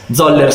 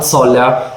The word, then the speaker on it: Zoller: Zoller se lo pronunciassi in modo italiano, Zoller se lo pronunciassi in modo tedesco, ma è una cosa